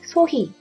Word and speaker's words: 소희: 어떤 거 있냐, 뭐 소희 하면은 히라는 발음 역시 영어에는 정확히 없기 때문에 뭐 후이라고 쓰는 경우도 있고, 이거 한번 얘기를 해주면 돼요. 소희. You can just pronounce it as he.